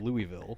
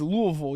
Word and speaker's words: Louisville: It's Louisville. You got to say it like you got a some dip in your mouth.